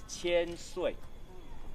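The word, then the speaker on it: 千岁: The Chinese pronunciation is qian sui.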